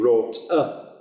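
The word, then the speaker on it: roote: So root in Chaucer is written R-O-O-T-E, and the E has to be pronounced as well. So it needs to be wrote and this is true of a whole host of words in Chaucer with an E on. You've got to pronounce it, and it sounds very odd to our ear, because you look at the words and you go, it should stop. But it doesn't, it has the E and you have to say it.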